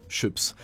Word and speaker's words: Schoeps: mais il s'agit de chops alors c'est pas chaud ça parce que on a tendance à se tromper sur la prononciation moi le premier dans l'épisode précédent mais c'est bel et bien chips c'est une entreprise de